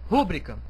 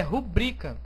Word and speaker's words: rubrica: está correta primeira palavra rúbrica Está correto aqui eu tenho proparoxitona acentuada corretamente só que a palavra não é rúbrica o certo é rubrica e como ela é